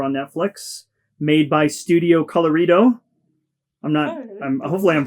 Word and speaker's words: Colorido: Made by Studio Colorido. Hopefully I'm pronouncing that one right. It almost sounds like Colorado, but with an I.